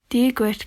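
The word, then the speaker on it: Dia dhuit: Dia gwit conas atatu.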